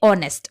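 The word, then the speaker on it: honest: देखिए ऑनेस्ट, इसका H silent होता है, इसे हम पढ़ते ऑनेस्ट, ऑनेस्ट, ठीक है।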